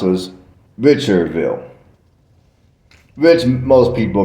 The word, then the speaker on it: Richardville: I I mean now the D was actually silent you did not pronounce a d so I think the way it was pronounced was richer V which most people mispronounced